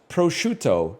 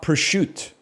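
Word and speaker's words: prosciutto: Pruto is pronounced prochto, not pushut.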